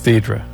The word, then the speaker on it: Deidre: Does everyone mispronounce it? Yeah. Okay. Because it's Deidre.